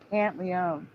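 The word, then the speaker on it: Pantoliano: but the thing is for me the O was either silent or said really fast because I've always known him as Joe pant Leone you understand it's like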